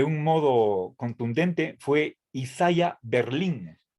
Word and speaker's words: Berlin: un nombre español y por más que la fuerza de voz esté en la última sílaba no he visto yo en los lo que pasa es que la mayoría de la bibliografía que yo manejo está en inglés pero incluso en español no no se acentúa la y creo que cometeríamos un error si ponemos el acento encima de la y isaiah berlin si él